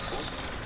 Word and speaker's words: Boosie: Am I saying his name right, Boosie?